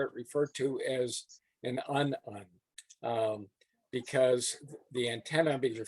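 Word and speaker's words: unun: And Max just explained why un-un is pronounced that way. It's spelled UN for unbalanced to unbalanced.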